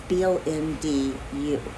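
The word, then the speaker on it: Bonġu: Actually, it's Bondu, but when I listen to the pronunciation, the D sounds like a J.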